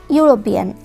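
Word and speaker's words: European: Answer লিখবে hour guest is আ ইউরোপিয়ান, আমাদের আত্মীয় একজন ইউরোপিয়ান। এখানে কিন্তু ওয়ার্ডটির সামনে ভাওয়েল থাকা সত্ত্বেও আমরা এখানে এ আর্টিকেল বসালাম, কারণ উচ্চারণ কেমন হচ্ছে, ইউ ইউ উচ্চারণ হচ্ছে, তাই আমরা এখানে আর্টিকেল এন না বসিয়ে ইউ এ বসালাম।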